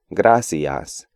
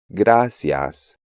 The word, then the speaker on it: gracias: Even advanced students tend to pronounce these words gracias, adiós, and estudiar, when they should be gracias, adiós, and estudiar.